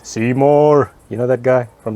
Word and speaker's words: Simorr: I think it's pronounced Simorr, like The Simpsons. Simorr!